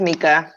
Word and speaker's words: Micah: Hey, it's pronounced Mika. It's just spelled. Okay. Yeah, it's okay. It's spelled. It looks like Micah.